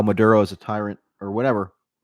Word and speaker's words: Maduro: an offhand way, and he ended up calling Maduro Madura. So, Biden kind of stresses how familiar he is with world leaders, but he can't even pronounce their names correctly.